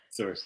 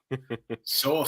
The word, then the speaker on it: Sorcier: my name then but sorer there it isier so you were right Blake it is not does not rhyme with sorcerer um you were correct